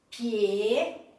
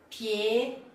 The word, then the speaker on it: pied: Nord, que termina com D, pied, froid, chaud. Então essas palavras, ou todas as palavras que terminam com D, não se pronuncia o D. Então, ó, nord, pied, froid, chaud.